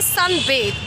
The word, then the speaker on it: sunbathe: सो धूप सेकने को इंग्लिश में बोला जाता है सन बेद। यस, स्पेलिंग जो है वो ये है SUNBATHE।